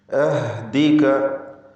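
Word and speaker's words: أهدك: അഹ്ദിക, അഹ്ദിക, ഹാഇൻ്റെ ഉച്ചാരണം ശ്രദ്ധിക്കുക.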